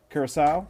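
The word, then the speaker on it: Curaçao: I want to apologize to one of our listeners that is in Curacao. That is how it's pronounced.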